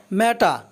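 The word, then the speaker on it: matter: ম্যাটা, ম্যাটা অর্থ ব্যাপার, এটাকে আমরা আগে ম্যাটার বলতাম। সব আমরা জানি যে ওয়ার্ডের লাস্টে যদি আর থাকে তাহলে আর এর উচ্চারণ হয় না, তো এজন্য এটাকে আমরা ম্যাটার বলবো না, এটা হলো ম্যাটা।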